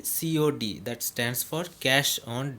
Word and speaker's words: COD: We don't say code, we say COD, that stands for cash on delivery.